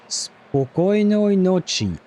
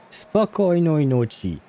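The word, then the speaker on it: Спокойной ночи: And wait, how do you pronounce that, though? Spokojnoj noci. Spokojnoj noci.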